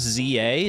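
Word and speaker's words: Z-A: Did I hear Argon say Z instead of Zed? It's not my own choice, though. Pokemon Legends ZA. That's just how it's said, unfortunately. I didn't name the game. It's a proper name, so I got to I got to respect their decision. I can't I can't be saying Za.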